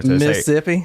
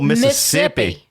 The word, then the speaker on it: Mississippi: Southern actually when you when you pronounce Mississippi you don't pronounce the other set of s's that's how you know somebody's from there Mississippi I'm from Mississippi oh